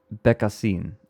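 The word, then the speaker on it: Bécassine: It's a hard C. Oh. Becassin.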